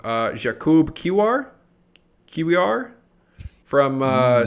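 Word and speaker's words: Kiwior: name wrong uh Jacob QR here we are from uh special calcio to Arsenal you're taking I think it's I think it's key VR cavior k-i-w-i-o-r yeah something like that which by the way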